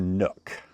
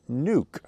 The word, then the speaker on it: nuc: and by the way some of you uh wonder do you say a a nuke or a nook i hear it both ways i think i say it both ways but there is a right way to say it even though i may say it wrong sometimes the right way to say it is nuke because it's short for the word nucleus nucleus means a small